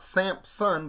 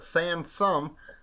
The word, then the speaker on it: Sansom: Uh, Harriet Sansom Harris, not Samson Sun, but Sansome, like somebody like mispronounced Samson or something, I don't know.